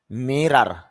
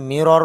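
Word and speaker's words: mirror: Minority সংখ্যালঘু minute minute মিরার আয়না যদিও আমরা এটা মিরর বলে থাকি মিরর শুদ্ধ উচ্চারণ হবে মিরার আয়না আলহামদুলিল্লাহ আমাদের 2000 শব্দার্থ কমপ্লিট হয়েছে।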